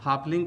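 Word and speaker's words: Halfling: दोस्तों, यहाँ ध्यान देने वाली बात यह है कि हा के बाद यानी कि HA के बाद L साइलेंट लेटर आता है। इस प्रकार से आप हाफलिंग का भी स्पेलिंग आसानी से लिख लेते हैं।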